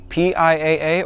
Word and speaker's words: PIAA: factory horn to a piaa or pia as i believe it's pronounced super bass horn alright